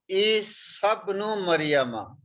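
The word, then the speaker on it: عيسى ابن مريم: But we have learned that if the Hamza is in the sentence, then we don't pronounce this. We will pronounce Isabnu Maryama. This sa we will pronounce with the ba.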